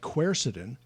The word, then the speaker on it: quercetin: Were I you, and I had problems with allergies, I would be taking things more like quercetin, which is spelled Quercetin. The British say quercetin, but quercetin, which is a membrane stabilizer, marvelous for the treatment of asthma.